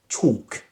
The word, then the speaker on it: chalk: Well, walk, walk, walk, and also chalk, chalk.